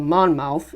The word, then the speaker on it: Monmouth: Roseville or 14 miles south of Mon Mon Mon mouth yep that's how you say it moving northeast